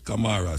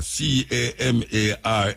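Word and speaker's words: Camara: Camar. C A M A R A.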